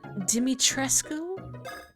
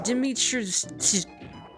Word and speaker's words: Dimitrescu: The vampire lady's name is pronounced as follows. Dimitrescu? See, my brain wasn't even reading all the syllables in it correctly. My brain was just reading it as like a jumble of letters. Dimitrescu.